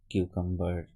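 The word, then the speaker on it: cucumber: এরপরে আরেকটা জিনিস দেখো কিছু ব্যতিক্রম শব্দ আছে সেটা হচ্ছে যেমন নাম্বার মেম্বার কিউকাম্বার এই যে শব্দগুলো এখানে কিন্তু এম এর পরে বি অর্থাৎ বি এর আগে এম তার সত্ত্বেও কিন্তু এখানে বি এর উচ্চারণটা হয়েছে নাম্বার মেম্বার কিউ নাম্বার ঠিক আছে এখানে কিন্তু বি এর আগে এম থাকা সত্ত্বেও বির উচ্চারণটা কিন্তু হয়েছে ওকে এটা কিন্তু উচ্চ হয়নি।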